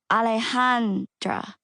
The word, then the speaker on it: Alejandra: For the record, I just pronounce it Alejandra, but I usually tell people to call me. I say it the easy gringo way. as in alleycat, alleyway, back alley.